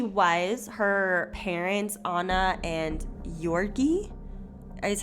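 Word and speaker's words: György: i mean she was her parents anna and yorkie is how i think you were pronounced it looks like george but i've heard it pronounced yorgi were very distant cousins and the way i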